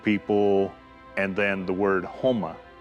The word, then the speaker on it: homa: The term Okla could mean like a group of people, and then the word Homa, it's pronounced Homa, is the color red.